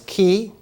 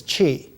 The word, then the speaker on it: qi: And that special kind of energy, the Chinese pronunciation now is qi. When I was young, it used to be translated to be pronounced in English as qi, qi.